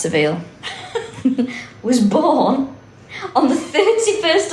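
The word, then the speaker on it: Savile: It's pronounced Saville.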